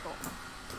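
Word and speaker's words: かっこ: かっこ、 Kakko. か But っこ。 Japanese learners often omit the pause.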